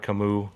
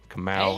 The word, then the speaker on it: Kamau: Another new guy, MRK, MR Camus, Kamau, that's how you pronounce it.